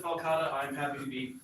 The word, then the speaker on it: Falcata: So we do have a Falcata? Falsata? I've always pronounced it Falcata.